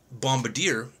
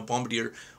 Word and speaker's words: Bombardier: is he was very strongly against capitalism using bombardier which is a corporation as an example now for those of you don't know Bombardier or Bombardier depending in how you pronounce it